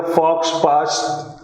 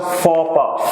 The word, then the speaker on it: faux pas: Remember, this is not pronounced as a fox pass. It's a faux pas.